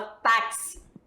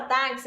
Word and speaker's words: táxi: que esse daqui ó esse X Ele tem um som de representa o quê Dois fonemas é o som de KS Tá bom então o